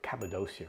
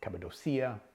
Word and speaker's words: Cappadocia: We were in a town called Cappadocia, or Cappadocia. It's pronounced in many different ways.